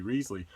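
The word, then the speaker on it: Wriothesley: southampton whose name uh is famously debated as to how you pronounce it it's uh it's henry reasley in hillary mantell's wolf hall books where he is so fond of telling people call me risley that cromwell ends up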